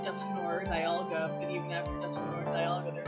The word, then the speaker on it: Dusknoir: I think it's pronounced Dusknoir. Duskanor. Or I don't know. Because I call it Duskanor. N-O-I-R is noir, and that's...